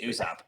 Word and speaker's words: Usopp: It's Usopp.